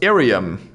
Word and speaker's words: Iriam: it's pronounced Irium.